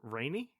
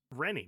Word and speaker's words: Rennie: Did you pronounce Michael Rennie Rainey? How's it supposed to be pronounced? Rennie, Michael Rennie. I probably did it the other way.